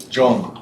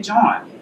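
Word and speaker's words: jawn: how he said it now if I said it I would say John that's not right I know that's not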